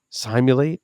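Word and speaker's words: Cymulate: And I want to say before they were sponsoring, I said simulate and I think they were simulate is how they pronounced it.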